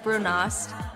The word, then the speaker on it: brunost: going to be awesome the brown cheese is I think it's pronounced brunost um sorry if I'm